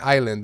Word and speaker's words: island: Well, Americans also have S in island, and they don't pronounce the S.